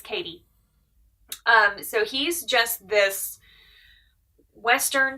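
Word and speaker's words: Cady: I think they do pronounce it Katie. It's C-A-D-Y, which kind of threw me for the first few books, but it's Katie.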